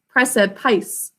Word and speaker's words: precipice: Precipice, p, r, e, syllable break, s, I, syllable break, p, I, s, silent final E.